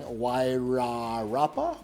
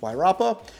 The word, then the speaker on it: Wairarapa: It looks like you should be saying Wairarapa, but it's pronounced Wairarapa.